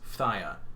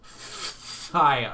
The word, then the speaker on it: Phthia: And I am pronouncing that correctly. If you didn't know, that is how you pronounce Phthia. Phthia.